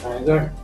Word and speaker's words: रायगढ़: जैसे हम रायगढ़, तो रायगढ़ जो बोल गलत उच्चारण, रायगढ़ ये सही उच्चारण।